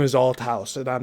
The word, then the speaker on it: Althouse: is my name is Alt House and I'm not going to let this go. You need to pronounce it correctly. That's al house.